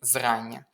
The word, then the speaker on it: зрання: виділено: бурштиновий, павич і зрання. Запам'ятайте, що якщо в нас є якраз, як у слові зрання, оце Ання, то зазвичай наголос буде падати на Ання. Зрання, завдання, видання і інші слова, окрім тільки уподобання.